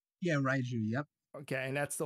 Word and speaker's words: Raiju: And correct me if I'm wrong, is it pronounced Raiju? Yeah, Raiju, yep.